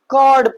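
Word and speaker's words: chord: एच क्या हो जाएगा? साइलेंट हो जाएगा। कॉर्ड पढ़ेंगे।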